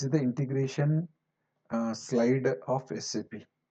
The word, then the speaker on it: SAP: the independent similarly okay we have to call it as SAP independent letters okay don't call it